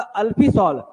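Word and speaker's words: Alfisol: इसको डोरसा कहते हैं आपका अल्फ सल इसमें एल साइलेंट है तो आपका लाल प्लस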